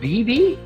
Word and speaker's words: Beebe: talk to us so how do you say your last name is it bb that's right you got it a rare first successful